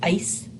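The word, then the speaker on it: áis: ice with an accent over the a it's pronounced ice and ayo says the ending is on all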